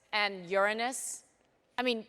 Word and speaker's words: Uranus: and uranus i mean do people ever pronounce that planet uranus or no yeah when you're when you're older than eight years old yeah you pronounce it uranus yes it's not called uranus definitely not when you're giving a talk to eight-year-olds until you're eight years old yeah it's uranus but after that is uranus sometimes you're never corrected